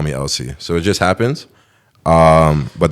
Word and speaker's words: Ellse: and started calling me Ellse. And then other people just didn't even know how to say. They were saying Elise and like Elke, like a bunch of weird stuff.